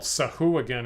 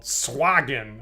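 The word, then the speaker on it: Sahuagin: wouldn't have guessed it what I always called sahu again is called swaggin apparently according to creator swagen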